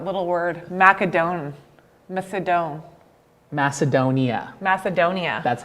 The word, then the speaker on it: Macedonia: is that that little word macadone macedon macedonia macedonia that's how you say it yes i want